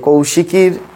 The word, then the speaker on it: কৌশী: শ্রী শ্রী চন্ডিতে যে কৌশিকীর কথা আছে সেটি এই লোমকূপ থেকে উৎপন্ন জাত দেবী তাই কৌশিকী সেটির সাথেও এর কোন এই অমাবস্যার কোন সম্পর্ক নাই। সেজন্য এর সঠিক প্রোনাউন্সিয়েশন হচ্ছে কৌশি অমাবস্যা।